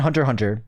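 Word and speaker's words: Hunter × Hunter: Um, a few of my favorite animes are well, I always recommend Hunter Hunter. It's um Hunter X Hunter, but you don't pronounce the X.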